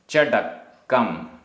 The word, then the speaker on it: चडक्कम: चडक्कम, चडक्कम आधा का पूरा का, दुज्जन वयण चडक्कम, दुज्जन वयण चडक्कम।